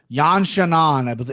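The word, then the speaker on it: Yan Xiaonan: she's fighting his name yan chanon i think is how they pronounce it that's right i think i've heard anik say that i mean he says it way better than me but that's kind of how you pronounce it yeah yeah i mean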